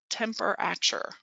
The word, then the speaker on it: temperature: is sounding it out they might say temper temperature right instead of temperature because that middle syllable has a schwa in it and so they they sound it out but then they have to say it like it really sounds when we speak it so that's good news